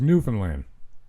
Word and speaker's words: Newfoundland: Proper pronunciation, of course, is Newfoundland.